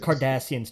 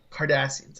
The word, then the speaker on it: Kardashians: Kardashians. Just lose the H. Kardashians.